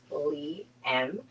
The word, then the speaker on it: Leigh M: So, my name is Chef Lee M and that's pronounced Lee M.